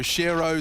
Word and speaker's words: shirro: thought about it though Shiro Shiro rhymes with hero he's actually put a